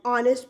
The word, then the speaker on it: honest: The next one, before words beginning with the silent letter H, then again we use article an. For example, beta, an hour, an honest person.